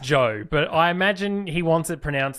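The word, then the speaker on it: Zhou: let's go through them the cash now it's pronounced Joe but I imagine he wants to pronounce the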